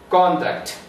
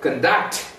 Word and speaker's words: conduct: Example, conduct. Verb, conduct. The stress is on second syllable. Produce. The stress is on first syllable when it is used as noun. Produce. The stress is on second syllable when it is used as verb.